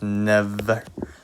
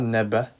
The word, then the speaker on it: never: So when you pronounce never, it's not neba. It's not neba. You need to be careful with the v sound.